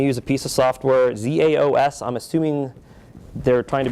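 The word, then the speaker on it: XaoS: a piece of software, ZAOS. I'm assuming they're trying to be clever, and it's called Chaos, is how I've always pronounced it.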